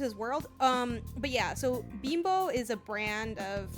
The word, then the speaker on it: Bimbo: I've always read it as Bimbo. I know it is Bimbo. It's pronounced Bimbo. That's the name of the brand.